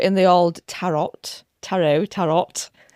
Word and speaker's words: tarot: Technically, it is tarot. Um because it is Italian where we kind of get that word.